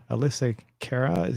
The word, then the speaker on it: AlyssaKera: Well, this is Safety Save with AlyssaKera. Am I pronouncing that right?